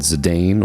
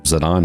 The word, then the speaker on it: Zidane: spanned four discs followed zidane or zadon however you want to pronounce it on a quest for